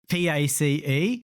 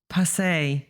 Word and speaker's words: Pace: So there's a Brazilian driver that we recently have called Pace, P-A-C-E, but I asked a Brazilian colleague, how do you pronounce that? And apparently it's not Pace, it's, what was it? Pace. Passe, yes.